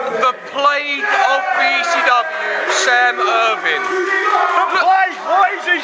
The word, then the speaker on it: Irvine: It's a silent E, it's Irvine.